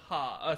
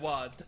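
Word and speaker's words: は: It's red. Ha. Sorry. It's red wa.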